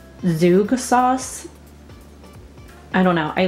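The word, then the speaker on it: Zhoug: i think it's pronounced zug sauce i don't know i looked it up because i wasn't sure what it was or how to say it but i think it's zook sauce um it says a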